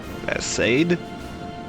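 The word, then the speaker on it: Arseid: Arsaid?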